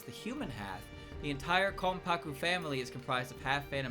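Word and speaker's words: Konpaku: context regarding her characteristic bear in mind that the N is an M sound yeah for Kaku this is because it flows more smoothly in Japanese when it's before a p sound k paku k paku yomu not K paku yomu I think I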